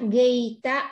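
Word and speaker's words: gīta: Natcha ghi, ghi, ai là y, trường âm, đọc ghi, nhưng mà đọc là ghi, ha. Natcha gita va dita visu.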